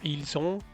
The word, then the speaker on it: ils sont: comienza en vocal, perdón, se liga la S con el sonido de on, entonces sí se pronuncia ils sont o elles sont.